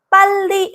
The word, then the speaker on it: 빨리: "ppalli" 라고 말 할 때 는 "ppal" 에서 바로 멈추세요 . "Ppal"— 정확히 . 바로 거기 예요 .